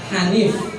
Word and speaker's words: Hanif: Saya namanya nggak pakai K. Hanif. Nah, kalau Hanif ejaan transliterasi Indonesia itu H, tetap tulisannya H. Kalau dalam penulisan karya ilmiah itu ada titiknya di bawah. Kalau KH itu Ho.